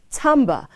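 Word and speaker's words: timbre: carpentry and is pronounced timber while t-i-m-b-r-e is pronounced tamba and means the distinctive quality of a musical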